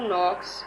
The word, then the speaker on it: knocks: is the silent letter do you know who knocks at the door knocks me k is the silent letter today we will finish